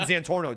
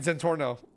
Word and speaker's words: Santorno: You're fucking Zantorno, dude. Yeah, nice. Can't even say my name, right? You're Santorno. There you go.